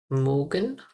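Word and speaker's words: mögen: Ich mag, du magst, sie, es mag, wir mogen, ihr mogt, und sie mogen. Mogen. Wir und sie mogen. Ihr mogt. Mogt. Mogt. When I pronounce Morgan, the O, Morgan, try to mix the O with ERR.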